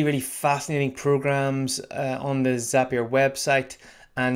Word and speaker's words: Zapier: fascinating programs on the zapier website and now i've corrected my pronunciation as up here so thank you for that rhymes with happier that's easy to remember